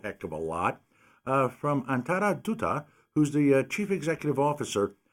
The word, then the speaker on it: Antara Dutta: Ladies and gentlemen, we're speaking with, and she taught me how to say this, so I think I'll get it right, Antara Dutta, who's the CEO. Was that good? That is very good.